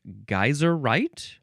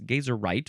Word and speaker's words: geyserite: Okay, moving on to we now have uh I guess it would be geyserite or maybe gazerite or geyseright different versions but it's gazerite.